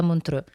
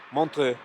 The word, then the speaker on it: Montreux: Giustamente Valentina mi corregge e non si dice Montreux, ma si dice Montreux, giusto? Montreux, Montreux. una fantastica pronuncia francese.